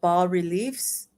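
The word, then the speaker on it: bas-reliefs: the women and um these carvings are called ball reliefs and that's spelled b-a-s because it's French um more Temple this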